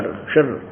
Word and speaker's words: क्षर: क्षर अक्षर, क्षर, इसको वैसे उच्चारण करते हैं शर, शर, लेकिन हम समझाने के लिए इसको देसी भाषा में बोला, अपने संत भाषा में, क्षर पुरुष और अक्षर पुरुष।